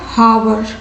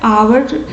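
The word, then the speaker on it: hour: अब और है आवर, यहाँ क्या है आवर, और आप क्या बोलोगे हावर, तो उच्चारण गलत कर लो, उच्चारण आप गलत रॉन्ग उच्चारण करोगे तो वो आपके गलत हो जाएंगे। तो यहाँ पे हावर नहीं होते, यहाँ पे इसे आवर पढ़े जाते हैं, इसे आवर बोले जाते हैं।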